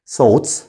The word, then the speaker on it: thoughts: طيب أفكار دي اسمها thoughts. thoughts. خلي بالك التي اتش بننطقها س والجي اتش هنا silent فبنقول thoughts.